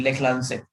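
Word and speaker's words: Leclanché: और secondary sir battery, थोड़ा spelling बताएं सर। LECLANCHE, लेखलांसे।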